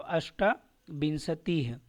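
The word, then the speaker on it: अष्टाविंशतिः: सप्त बिंसतीह 28 का फिर यहां पे अष्टा है अष्ट नहीं है क्या है अष्टा तो अष्टा बिंसतीह 29 का जो है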